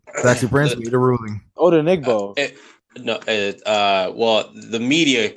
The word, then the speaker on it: Odenigbo: parents they would give me a very different pronunciation how did oh no my eyes was off okay he said odenigbo and I'm like oh okay alright but obviously